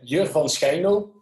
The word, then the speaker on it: Jur van Schijndel: about you, who is Jur van Schijndel? If I'm pronouncing it quite okay. When you pronounce it Dutch, it will be Jur van Schijndel.